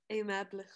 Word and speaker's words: aimable: Attention à la prononciation. OK? C'est le même mot, ça oui, mais c'est pas la même prononciation.